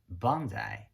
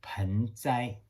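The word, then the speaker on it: 盆栽: Japanese refer to as bonsai. Bonsai basically are two Chinese characters exactly the same as the Chinese who pronounce as penzai.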